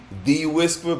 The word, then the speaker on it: De-Wisper: And so that's why I took out the H, because when Nigerians say it's supposed to be De-Wisper, but Nigerians don't pronounce.